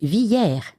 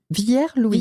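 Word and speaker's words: Villiers-Louis: Ça s'écrit Villier Louis mais les gens du cru disent Viller. Vier Louis.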